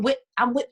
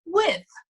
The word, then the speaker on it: with: So when I hear my children now do that, no, it's with, and pronounce the end of the word.